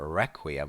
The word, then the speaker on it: requiem: service or a mass pay attention to the pronunciation there requium with SH on the first part it's quite